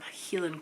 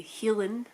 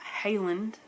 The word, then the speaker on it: Heilan: And I got very close to some Heilan Coos, and yes, we say Heilan, not Highland, even though that's how it's spelled, Highland cows. We just say Heilan Coos.